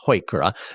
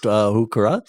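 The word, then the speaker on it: Heuchera: Bells h u c h e r a HOA is how I pronoun uh to pronounce it others pronounce it hooka and coral bells beautiful uh the nice thing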